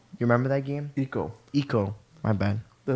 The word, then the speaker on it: Ico: He was inspired by artists and by Ico. You remember that game? Eco. Eco. My bad. The Mispronounced.